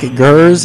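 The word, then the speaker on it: Geers: His name is Nick Gers. His last name is spelled G-E-E-R-S, Gers.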